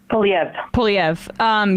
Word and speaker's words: Poilievre: Poilievre.